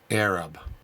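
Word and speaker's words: ערב: In Aramaic, the word used for mix is spelled Ain Resh Beit and pronounced Arab.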